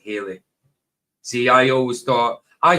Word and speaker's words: Halley: So you remember as a kid, Jim, I remember being told as a kid it was Halley, but pronounced like Haley. See, I always thought, I have heard people saying Halley's Comet, but I've always said Haley.